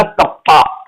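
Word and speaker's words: kappa: का मतलब हो गया कप्पा। के का के क्यों बोलते हैं, के को बोलते हैं कप्पा, कप्पा से प्रोनाउंस करते हैं इसको, ठीक है ना।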